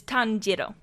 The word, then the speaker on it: Tanjiro: tanero it is not Tano like it is Tano Tano but now you know how to say